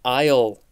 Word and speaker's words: aisle: I think I remember as a kid seeing that word and being like, that's not how aisle is spelled, or that word isn't pronounced aisle. Why is the S there?